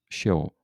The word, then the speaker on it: Sheol: A gente pronuncia em português aqui Sheol.